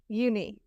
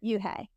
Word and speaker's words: Unhei: So it's spelled UNHEI. So like uni. No? Very close. Okay. Yuhei. Oh, Yuhei. Okay.